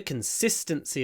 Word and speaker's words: consistency: the next one the consistency of the source is ideal consistent consistent make the S long and swallow the the I consistency consistency of the